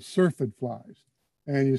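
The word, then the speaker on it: syrphid: you is because this particular group are called surfeit flies and you spell that s-y-r-p-h-i-d surfed fly they're also called flower flies or even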